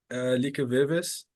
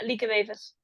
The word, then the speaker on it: Lieke Wevers: Recently, Lieke Vives, am I pronouncing right? Yeah. Lieke Wevers.